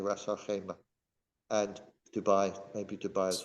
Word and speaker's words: Ras Al Khaimah: I mean, I've been asked to do something in this city north in the UAE called Ras Al Khaimah. Khaimah. I have to pronounce it correctly, Ras Al Khaimah, and Dubai, maybe Dubai as well.